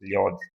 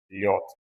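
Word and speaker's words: лёд: Quando esse D aparece sozinho no final da palavra, ele tem uma pronúncia um pouco mais forte. Então, nós não lemos lod, nós lemos lhot, dê um pouco mais forte também.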